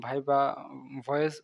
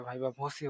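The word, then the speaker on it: viva voce: ভাইভা ভসি উচ্চারণটা কেমন হবে? বা ভাইভা ভয়েস উচ্চারণ অনেকেই করে। এটা ভাইভা ভসি হবে, হ্যাঁ?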